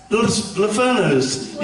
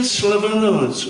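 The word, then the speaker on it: Sclavunos: Lavanos, yeah? I said his name wrong. What is it, babe? Jim Slavanos, right?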